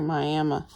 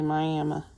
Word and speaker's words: Miami: I figured out from Miami, Oklahoma. That's how we say that in Oklahoma. We say Miami. It's actually spelled like Miami in Florida, but we say Miami because we're in Oklahoma and we can.